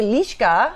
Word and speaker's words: Liska: Well, it's actually Liska.